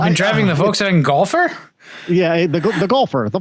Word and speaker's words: Golf R: I've driving the Volkswagen golfer yeah the the golfer the Volkswagen golfer gol I I keep wanting to pronounce it like the body of water between Texas and Florida and I don't know